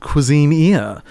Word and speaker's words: Cuisineer: Well, this is a little game called Cuisineer, which is how I choose to pronounce it. I've heard others say Cuisineer. I'm like, that is wrong. I like Buccaneer, but with cuisine at the front.